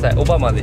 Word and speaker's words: Obama: Đó là Obama (phát âm là Oh-ba-ma) Chúng tôi đã định